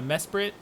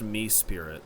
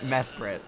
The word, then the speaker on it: Mesprit: region yeah and uh Mesprit you know they uh they guard the Lakes you know we're on the water okay I think it's pronounced me Spirit Mr Curtis me Spirit